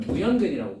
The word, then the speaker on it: 무연근: 그런 이상한 근들을 뭐라고 부르면 무연근이라고 불러요. 오케이?